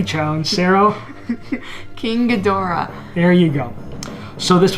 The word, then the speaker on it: Ghidorah: King I'm phonetically challenged. Sarah? King Ghidorah.